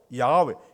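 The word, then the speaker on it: Yahweh: 생각할 때 모든 사람들이 생각하는 신의 개념이고 여호와 야외 여호와라고 우리가 번역했지만 발음을 어떻게 해야 될지 몰라서 이게 구전이 안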